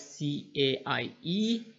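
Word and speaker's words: CAIE: have changed the name now it's see a ie you can pronounce it like a sky that's what I do so under Cambridge you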